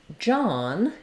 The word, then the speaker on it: John: Then when it comes to the man's name, John, even though it has an OH in it, it is the ah vowel.